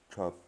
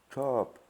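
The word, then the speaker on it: ชอบ: Chop, verbe aimer. Hein, la lettre O, A, qui veut dire A, qui se prononce A et pas O.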